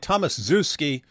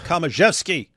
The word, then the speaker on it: Tomaszewski: It looks like Thomas Zewski, but Ed Komaszewski is spelled the ending is spelled the same, and that's Komaszewski. So I think it's Komaszewski.